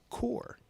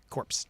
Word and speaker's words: Corps: doesn't know the word c r PS is pronounced core that's corpse not Green Lantern corpse it is Green Lantern corpse people come into my shop and they say corpse they're done um and